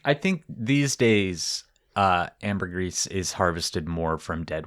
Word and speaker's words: ambergris: I was calling it ambergris and it's actually pronounced ambergris.